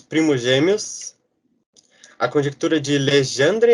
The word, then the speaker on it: Legendre: A conjectura de Legendre, eu acho que se lê Legendre. Ele é francês, então acho que é meio que essa pronúncia.